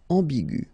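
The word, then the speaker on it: ambiguë: Another example is ambigu, and it will become ambigu.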